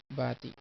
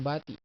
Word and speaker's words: bati: Or you can say this and there's a birthday, maligayang bati. Or best wishes, maligayang bati. Maligayang, maligayang, maligayang. The accent is here, maligayang. And bati, not bati. It's bati.